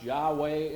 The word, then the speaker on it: Yahweh: Most translations put the Lord in there, but actually most scholars now hold that it was actually pronounced Yahweh and that we ought to see it in that sense.